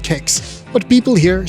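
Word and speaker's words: kex: example cakes means biscuit in Swedish and it's pronounced cakes but people here say checks gothenberg is also one of very few Swedish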